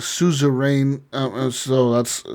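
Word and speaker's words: Suzerain: to play yeah um so that that's called Souza rain um so that's spelled s u z e r a i n susar rain yeah not risk of rain I'm pretty sure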